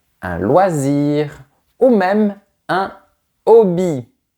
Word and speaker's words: hobby: Tu vois, on peut dire un passe-temps, un loisir ou même un hobby. Le mot anglais, mais avec la prononciation française.